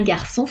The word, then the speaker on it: garçon: on sait s'est dit se prononce comme la lettre s sa sau su exemple un garçon français s'en lasser dia prononciation